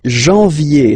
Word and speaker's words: janvier: But anyway, janvier, so that's the way to pronounce it.